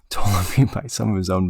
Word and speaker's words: Ptolemy: History and the Maccabees tell us before the battle, an assassination attempt of Ptolemy was, no, the P is silent, Ptolemy by some of his own men took place.